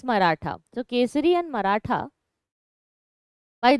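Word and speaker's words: Mahratta: or marata okay like if you write it in English it looks like maharat but the pronunciation the real name is marata so quer and marata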